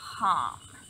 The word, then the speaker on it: Ham: is ham um so it's hm like ham pronounced ham hm so we're going to go ahead and